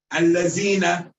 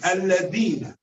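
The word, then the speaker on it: الذين: make in Egypt is they pronounce the val as a zai, as alazina. They say alazina, alazina. This is not a mode of recitation. This is wrong. Alazina, alazina. This is wrong. It's alladina, alladina, alladina, alladina, alladina, alladina. It's not allazina.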